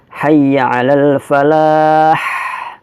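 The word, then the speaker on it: حي على الفلاح: perlu berkecil hati ya maka Bacanya adalah Hayya Alal Falah tekan hanya kita tengah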